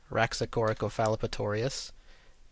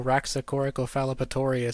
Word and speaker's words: Rhasspy: Now I say us at the end, which is this AH, as in hut.